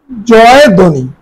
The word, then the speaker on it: জয়ধ্বনি: এরপরে দেখো জয় ধ্বনি, এটা আসলে আমরা উচ্চারণ করি জয়ধ্বনি, জয়ধ্বনি, জয়ধ্বনি।